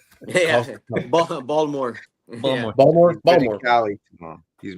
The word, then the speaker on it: Baltimore: But you're not saying it right. Balmer. Yeah, Baltimore.